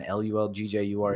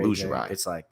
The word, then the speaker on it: Lulgjuraj: Our last name, man, Lulgjuraj. Lulgjuraj. It's a long name. And how do you is it pronounced that way in Albania?